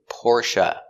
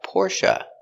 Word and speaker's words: Porsche: And our first car is Porsche. The correct pronunciation for this word is Porsche, but a lot of people in the United States say Porsche.